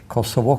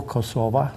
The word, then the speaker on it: Kosovo: of community of Serbia Kosovo kosova to take both pronunciations and Albania so we